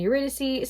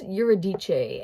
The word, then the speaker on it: Eurydice: it in school but he pronounced eurodice and I don't know man they say eurydice in the musical so I'm gonna just go buy that don't cover me for the pronunciation I am not Greek I am so sorry